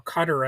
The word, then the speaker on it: Qatar: a huge jet from the country of Qatar or Qatar as it's sometimes pronounced, you know, more plainly obvious corruption and so on and so forth.